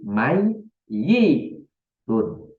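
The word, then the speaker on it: ميّت: Jadi mai, yi, tun. Mai, yi, tun. Begitu. Mai, yi, tun. Begitu bacanya. Tetapi baca seperti itu, tulisannya seperti ini.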